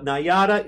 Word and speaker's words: Nayada: time by popular demand right Patrick from The nyata Institute so I said that right right you